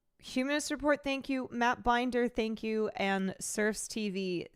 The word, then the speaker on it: Binder: It is pronounced Binder.